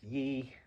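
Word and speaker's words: 一: simple um and then pronounced Y which is first tone so you can see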